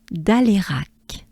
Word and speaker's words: Alérac: Next they will climb Côte d'Alérac. Let's do this. Well, we have again côte, right? Côte d'Alérac. Da, a, le, e, rac, right? Rac.